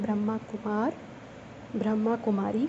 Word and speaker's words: ब्रह्माकुमारी: आज का विषय है मैं ब्रह्मा कुमारी हूँ। दुनिया में तो लोग इसका उच्चारण भी सही नहीं करते हैं, ब्रह्म कुमारी कहते हैं।